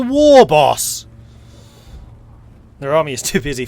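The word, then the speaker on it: Waaagh: stretch marks okay see he pronounces it correctly he's not a wire boss he's a war boss their army is too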